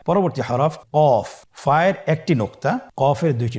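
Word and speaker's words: قاف: কফের মাখরাজ হলো জিহ্বার গোড়া তার বরাবর উপরে তালুর সঙ্গে লাগিয়ে উচ্চারিত হয়। জিহ্বার গোড়া তার বরাবর উপরে তালুর সঙ্গে লাগিয়ে উচ্চারিত হয়। আপনারা উচ্চারণ করুন কফ।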